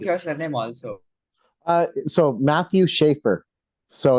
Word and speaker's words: Sarthak: How do I properly pronounce your name? Sarthak? Sarthak.